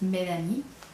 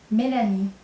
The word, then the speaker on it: Mélanie: In English is Melanie, right? And in French it's Mélanie. So I'm going to spell it M, E, accent aigu, L-A-N-I-E, Mélanie.